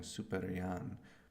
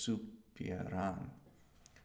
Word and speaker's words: supieran: Like I think I was saying superian, but it's supieran programar.